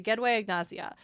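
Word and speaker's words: gedwëy ignasia: The Gway Agnazia.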